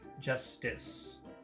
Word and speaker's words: justice: things that sound different, let's compare how you pronounce number 2 versus number 3. Number 2, justice. Number 3, just this. The only difference is that if you're going to say number 3, there's a little different sound, but the big, big